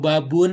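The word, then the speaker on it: باب: Kalau babun itu baknya panjang, ya supaya nanti kita pas nulis itu betul, maka kita bacanya babun, berarti di situ ada mad. Ya. Ya. Jadi kita jangan baca babun, nanti nulisnya salah, babun.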